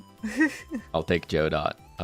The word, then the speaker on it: Godot: It's pronounced Joe Dot, by the way.